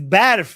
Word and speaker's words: barf: But then everyone was making barf jokes. Okay. It's barf, not barf. I know. That's what I said. I said I said the pronunciation is different.